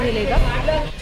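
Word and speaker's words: Mollem: है मोली national park वो वैसे मोलन है मोलम करके लिखा हुआ है बट बहुत सारी चीजों में यहां पे एम जो है साइलेंट है तो मली नेशनल पार्क बोलते हैं उसको एंड यह भगवान महावीर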